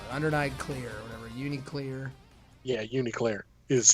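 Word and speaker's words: UNICLR: Yeah, Uniclear is how they pronounced it.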